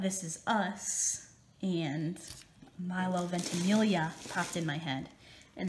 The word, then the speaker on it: Ventimiglia: But I was thinking about This Is Us and Milo Ventimiglia. No, I said it wrong. Ventimiglia, and that just brought back the Golden Girl feels.